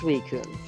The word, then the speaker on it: Suicune: can get vaporeon okay so it is pronounced suicune i pronounce a lot